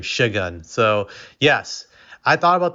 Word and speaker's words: Şengün: I think he pronounced his name Shagun.